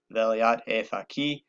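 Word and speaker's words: velayat-e faqih: I'm not too worried about the pronunciation. To me, that's a straightforward English pronunciation of the concept, velayat e faqih.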